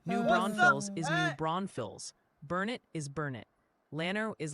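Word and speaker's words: New Braunfels: Loving Tate dropping in with a pronunciation guide. They say Bernie is Bernie. Locks is Wahhatchee. New Bronfields is New Bronvilles.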